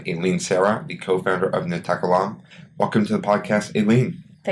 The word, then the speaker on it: NaTakallam: Sara, the co-founder of NaTakallam. Welcome to the podcast, Aline. Thank you. So what is NaTakallam, and am I pronouncing it correctly? So NaTakallam means we speak. That's what you say we speak in Arabic.